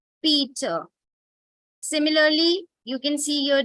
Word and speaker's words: Peter: divide it into syllable you divide it after e and so e is open-ended syllable and it will not say and it won't be better but it will be Peter similarly you can see